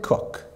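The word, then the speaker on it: Coke: era of Lord Edward cook yes it's pronounced cook he came of age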